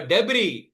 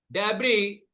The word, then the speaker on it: debris: So they started to block up with the debris s is silent and debris is common word which you have might have heard. You might have heard this word. So debris floating around the cabins and the electric pumps shortcircuited.